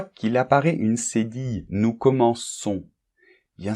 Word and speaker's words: commençons: Nous commençons. Bien, c'est normal, parce que sinon, on prononcerait nous commençons. Et ça n'irait pas, il serait irrégulier au niveau de la prononciation.